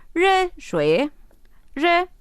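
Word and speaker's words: 热: xue xue y si quiero agua caliente es re re es caliente y T T se dice cha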